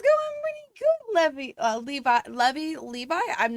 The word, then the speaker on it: Levi: It's all fun and games until I realize I don't know how to pronounce Levi the jeans either. Levi.